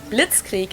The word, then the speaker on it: Blitzkrieg: actually had been used way before that we pronounce it Blitzkrieg in German and it literally translates to lightning